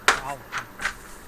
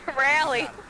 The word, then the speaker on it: Raleigh: Raleigh. That's how it's pronounced too. Oh, Raleigh. Raleigh, like Raleigh, North Carolina. Just like the town.